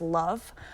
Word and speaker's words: LOVB: a little bit different it's lovb pronounced love um and this league